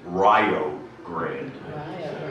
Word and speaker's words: Rio Grande: area of Rio Grande be careful in pronouncing its name in the company of local people many will swear and you know say that it's fighting words if you pronounce it any other way than Rio Grande however I see some